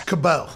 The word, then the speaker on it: Cabot: kay like that in french is cabo yeah that is clearly what mary kay cabot yeah but if you